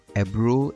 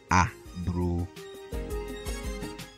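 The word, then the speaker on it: aburoo: And ebro is spelled a-b-u-r-o-o and pronounced ebro, not a-bro.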